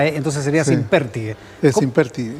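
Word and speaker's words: Simpértigue: Es sin pértigue. Es sin pértigue. Aclarado. Definitivo. Sin pértigue.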